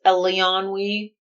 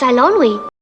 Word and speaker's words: Eilonwy: Oh, you mean like Princess Eleonwy? I'm Princess Eilonwy. Eilonwy? Yeah, it's unpronounceable.